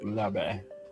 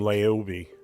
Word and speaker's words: Laube: It's Laube. Because what's his name is driving me nuts. He's calling him Laobe.